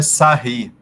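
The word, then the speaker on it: Sarrus: método oi gi sarros e se pronuncia sarre tá método de sarre e agora se eu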